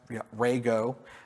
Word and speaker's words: Rego: to validate policy's code uh Opa uses Rego pronounced Rego uh as a policy language and it decouples